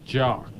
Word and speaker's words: Jacques: also make a correction your last name is jock i i definitely butchered